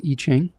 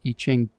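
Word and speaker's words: Yijing: It's called I-Ching. And I don't know, I've been using it for over a decade. It's spelled Y-I-J-I-N-G.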